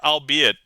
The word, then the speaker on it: albeit: lighten your anxiety du the archaic word albeit does not rhyme with eight you see it with